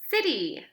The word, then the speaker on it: city: c will make okay so we know that c can say two things but when it's followed by e i or y we know that it makes the s sound okay so say this